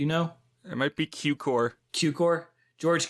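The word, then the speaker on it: Cukor: George kukor how do you say his name cooker kukor do you know it might be qcor qcor George Q core who made plenty of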